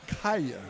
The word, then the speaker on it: Nikia: wife just informed me that Nikia is pronounced Naya okay so we apologize to